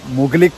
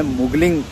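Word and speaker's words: Mugling: तो गाइस पीछे आप देख सकते हो झरना, और सुबह मैंने थोड़ा गलत प्रोनाउंस कर दिया था, मुगलिक करके मैंने बोला था, लेकिन ये एग्जैक्टली जो नाम है मुगलिंग करके इसका नाम है।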